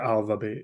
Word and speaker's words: ALVABEAT: Is that how you pronounce it? Yeah, ALVABEAT, yeah.